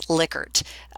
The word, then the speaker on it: Likert: trivia here for you the actual pronunciation is Likert so the gentleman who